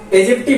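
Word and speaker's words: aegypti: यहां पे ए लिख लेना। ठीक है? एजेप्टी बोलते हैं। ठीक है? एजेप्टी इसको बोलते हैं।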